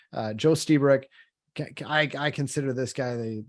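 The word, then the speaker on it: Lstiburek: great article by Joe stebric and yes that's how you're supposed to pronounce his name and it starts with an L the L silent uh Joe stebric I consider this guy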